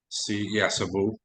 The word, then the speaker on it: Cebu: Cebu. That's how it's pronounced.